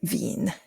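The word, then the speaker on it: Wien: V displacement law and I have heard people people pronounce that wine and wean I I pronounce it Ven and what it was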